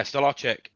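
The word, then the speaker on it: Stolarczyk: goal even though I think how do you pronounce my backup goalkeeper's name I've never uh Stellar yeah staric I thought he was great against Manu as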